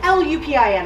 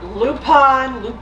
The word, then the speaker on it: Lupin: Whatever, it's L-U-P-I-N, I'm gonna go with Lupin. Lupin. Whatever. It's in French pronounced Lupin.